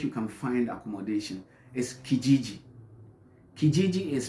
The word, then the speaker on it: Kijiji: next place that you can find accommodation is Kijiji Kijiji is spelled k-i-j-i-j-i it sounds funny right so Kijiji is another